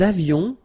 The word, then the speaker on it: avions: Il avait, final T not pronounced, elle avait, nous avions, little liaison, final S not pronounced, nous avions, vous aviez, same thing